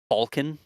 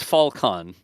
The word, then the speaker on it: Falcon: the uh British accent Chris says Falcon Falcon never says Falcon mhm Falcon not Falcon I guess that's us